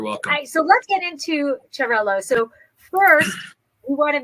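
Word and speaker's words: Xarel·lo: Catalan, why don't you tell everybody the exact pronunciation, and I'll talk about the spelling part of it. Sí. In Spanish is Xarel-lo in Spanish. In Catalan is Xarel-lo.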